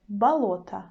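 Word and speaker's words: болото: is in the middle but the first o becomes a we say balota balota or pronounced clearly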